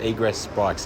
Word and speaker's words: Egress: I am with Jimmy Roslin of Egress Bikes. Have I pronounced that correctly? That's probably correct, yeah. Are you being too polite to correct me, or how do you say it? Egress Bikes, yeah.